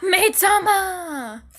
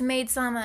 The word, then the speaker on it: Maid-sama: the anime it's called maid-sama Mei Tama that's not how you pronounce it it's made sama and I've watched it